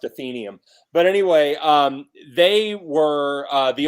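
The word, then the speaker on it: Athenaeum: radio success in the '90s, a group called Athenium. And called what? Athenium. It's an old. Do you remember them? Yeah, I think we called them Athenium. Okay. The word's technically pronounced Athenium.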